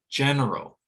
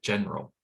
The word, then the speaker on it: general: Same thing with general. Stress on the first syllable, that second syllable may be reduced to the point where it disappears, general.